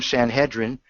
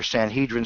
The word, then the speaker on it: Sanhedrin: For example, the term Sanhedrin, or Sanhedrin, some pronounce it in American English.